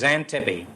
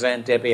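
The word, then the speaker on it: Xanthippe: not porsche no it's xantipi and it's spelled x-a-n-g-i-p-p-e and why it's pronounced zen tippy i'll never know i'm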